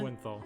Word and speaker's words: Lowenthal: Lowenthal.